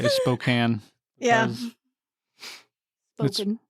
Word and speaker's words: Spokane: Spoken. It's Spokane. It's spelled Spokane.